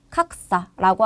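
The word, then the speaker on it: 格差: 뒤에 차라고 하는 치이 왔기 때문에 얘 사행으로 읽어서 각사라고 하는게 격차가 될 거예요.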